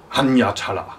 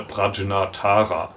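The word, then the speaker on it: Prajñātara: Sein Meister, das war der Hanyatala. Hanyatala wird der Name auf Japanisch ausgesprochen. Ne? Prajnatara vermutlich.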